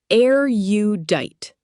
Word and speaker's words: erudite: Pronounced air you dite.